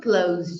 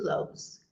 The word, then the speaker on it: clothes: praticar essa safadinha também essa aqui a gente quer pronunciar CL alguma coisa assim por causa do th Mas essa palavra é pronunciar exatamente igual ao verbo fechar que é Close a gente não